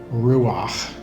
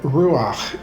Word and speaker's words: ruach: So there is a word in Hebrew, ruach. Ruach is spelled R-U-A-H or R-U-A-C-H.